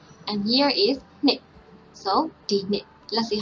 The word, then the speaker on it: ဒီနှစ်: So the first alphabet is Ma. And second one is already combination of Na and It. So we pronounce Nit.